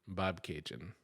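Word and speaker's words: Bobcaygeon: of that song they so they say it's pronounced like bab K Jin Bob Cajun so that's another one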